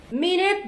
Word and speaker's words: minute: Minute differs from minute. The latter rhymes with cute and mute.